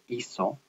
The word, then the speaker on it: hizo: Notice the third person singular form, hizo. It has a Z instead of a C. And remember that Z's are never pronounced like they are in English and Spanish. They're never pronounced like Z. They're always pronounced like an S.